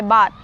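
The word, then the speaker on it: baht: This is the This is um Thai bat. It's called Thai bat. Mhm. And bot is spelled B A H T.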